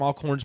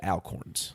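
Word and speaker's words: Alcorn's: market by the way it's all corns market that's what i said he said alcorns oh i did say alcorn yes and which would be an appropriate pronunciation if we weren't from sparta but if anybody from sparta hears this and we said alcorns and not all corns it would have been a slight offense truth did y'all as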